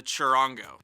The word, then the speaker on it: charango: One of the most commonly used ones is the charango.